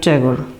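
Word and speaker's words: Tagore: রবীন্দ্রনাথ, আমরা বাংলায় ঠাকুর বলি, ইংলিশে বানানো একটা ট্যাগর, উচ্চারণটাও ঠিক এরকম।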